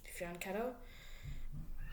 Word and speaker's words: fianchetto: Now, fianchettos, I think I'm saying that right. I think fianchetto is the way to say it, like F-Y-A-N-K-E-T-O-E, fianchetto. Spelled like fianchetto is very popular again.